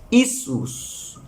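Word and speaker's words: Иисус: se pronuncia jezu Yu en ruso se pronuncia isus yus diferente fíjese que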